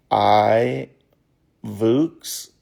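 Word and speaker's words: iVoox: smart speaker, TV or smart device cast Fox I Vuks, which is spelled I V O O X.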